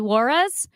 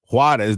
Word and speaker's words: Juárez: So August 4th versus FC Juarez.